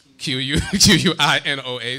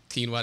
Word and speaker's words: quinoa: I just spell it Q-U-I-N-O-A. Some people say quino, quinoa, people. Quinoa, are you sure? It's quinoa, yeah. See, your brother says quinoa.